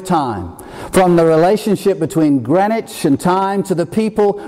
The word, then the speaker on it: Greenwich: It looks like Greenwich, but it's pronounced Greenwich, I assure you, just outside London.